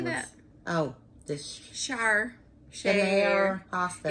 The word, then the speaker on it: Schaer: Oh, the Share pasta. It's spelled SCHAER.